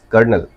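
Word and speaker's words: colonel: जैसे कॉलोनल लिखा जाता है बट we pronounce it एज कर्नल sound like कर्नल Wednesday लिखते हैं बट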